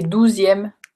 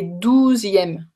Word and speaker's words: douzième: Donc, deuxième et douzième, tu entends la différence. Est-ce que vous avez tous ce problème pour la prononciation de ce que Lily and Joe's a demandé tout à l'heure, and Joe's dad? Deuxième et douzième. Est-ce que vous entendez la différence? Parce que c'est deux mots différents.